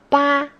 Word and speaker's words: 八: 8 is 八, first tone. 八.